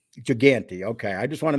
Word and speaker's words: Gigante: to talk about louis ginger how would you pronounce his last name jeff giganti gigante okay i just want to make sure that